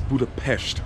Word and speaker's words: Budapest: And the proper way for you guys, this is Budapest. That's how they say it here. I totally forgot. I kept making that mistake the last time.